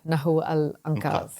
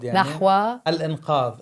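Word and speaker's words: نحو الإنقاذ: And again, you are also the founding member of Nahu al-Anqadh. You don't pronounce the Z? Nahwa, the word. Nahwa al-Inqadh, saving. al-Anqadh.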